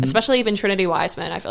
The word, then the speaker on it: Wiseman: I always have to say like one wise man when people ask how to spell it, because a lot of people say Weissman or they say whatever. Wise man. So it's literally a singular wise man.